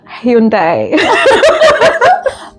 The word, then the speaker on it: Hyundai: Hyundai. Hyundai. Okay. I feel some people see it as Hyundai. Mhm. Are you ready for mine? Yeah. Hundai. Hundai. Hyundai. Hyundai. That's the way it's spelled.